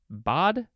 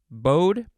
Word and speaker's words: baud: and bossus are married next we have bad or bad bod bode all of those are options i think b-a-u-d it